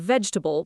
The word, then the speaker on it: vegetable: Start with veg, like the beginning of vegetable, but stop right there. Veg. Now add ta. Vegta. Now the bull. Vegetable. Say it 3 times slowly, feeling how quickly that middle part moves. Vegetable, vegetable, vegetable. Now speed it up into one word, vegetable.